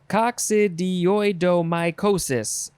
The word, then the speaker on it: coccidioidomycosis: Coccidio. It's oi. Coccidioidomycosis.